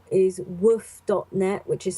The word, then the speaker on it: WWOOF: really your your first port of call is woof dot net which is spelt ww SS so 2 w's 2 o's